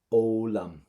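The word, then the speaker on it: foghlaim: Do you see your FHs? We're not going to pronounce an FH in Irish. They're completely silent letters for you in your language. And the other thing as well, when you see a GH in the middle of your words, they're also silent letters. So this is why we pronounce it as olam.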